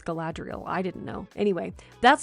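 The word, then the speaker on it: Galadriel: Rings recently and I actually learned how to pronounce gadriel I had been saying galadrial but according to the movie It's gadriel I didn't know anyway that's the glitter we're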